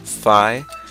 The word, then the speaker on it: Fi: Fe F you know I believe it's correctly pronounced fi I say that because you know there's that old saying F fi fo F and the second part F then fi is spelled fi which is the same spelling of fi here